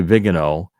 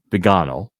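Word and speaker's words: Viganò: um Bishop vgo it's people do say vigano but in Italian pronounce it Bano and we can show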